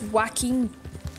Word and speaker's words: Joaquin: Joaquin, not Joaquin, not right, it's Joaquin. Yeah. It's Spanish.